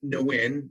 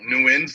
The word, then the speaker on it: Nguyen: i said yeah it's it's pronounced no win that that's correct right yeah there's a lot of different ways to say it new ends gonna be the easiest way to say it just so there's